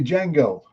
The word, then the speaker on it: Django: Yeah, the movie Django. I love Django. I'll always call it Django. I'll always pronounce the D, even though it's silent. The movie, they kept saying the D is silent.